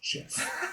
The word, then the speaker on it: GIF: Yeah, Steve Wilhite says that it's pronounced GIF. He invented it. He actually won an award years ago before he passed away, and his acceptance speech was just a PowerPoint presentation that said it's pronounced GIF, J-I-F in quotes.